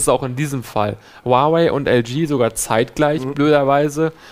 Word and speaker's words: Huawei: Oder wie spricht man es aus nochmal? Huawei. Huawei.